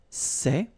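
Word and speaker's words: ces: one form okay and it's say okay remember open Say Say Say Okay one example so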